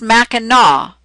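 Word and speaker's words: Mackinac: Oh, it's spelled Macinac, but it's pronounced Minaw.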